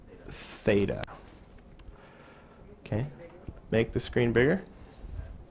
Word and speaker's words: theta: good so that's a Greek letter and it's pronounced theta okay make the screen bigger just a tag